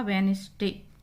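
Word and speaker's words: Wednesday: पहला शब्द है आपका वेडनेसडे। यहाँ पे डी लेटर साइलेंट है। यहाँ पे जिस लेटर के नीचे ये लाइन खींची हुई अंडरलाइन हो रहा है वो लेटर आपका साइलेंट है, तो वेडनेसडे पढ़ते हैं इसको, डी साइलेंट।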